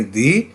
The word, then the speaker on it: the: इसी तरह से मैंने आपसे अर्ज किया कि जितने भी वर्ड्स हैं जो वॉल साउंड से स्टार्ट होंगे उसके साथ हम जब इसे लगाएंगे टी एच ई को तो इसे हम प्रोनाउंस करेंगे दी, अदरवाइज हम उसे दा प्रोनाउंस करेंगे।